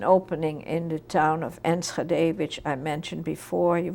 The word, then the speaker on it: Enschede: And at that same time, approximately, there was an opening in the town of Enschede, which I mentioned before. You want me to spell it?